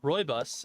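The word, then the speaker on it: rooibos: like an herbal tea herbal or roybus as it's pronounced but it is orange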